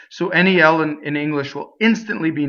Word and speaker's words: nel: So nnel is not nel, it's nnel, A.